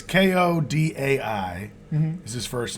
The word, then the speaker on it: Kodai: But it's Kodai is his first name. So Kodai.